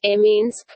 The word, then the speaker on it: Minsk: Minsk, Belarusian, Minsk pronounced Minsk, Russian Minsk is the capital and largest city of Belarus, situated on the Svislak and the Nyamiha rivers.